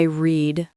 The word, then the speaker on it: read: Today, I read a book. But for the past, yesterday, I read a book. It sounds like the color red.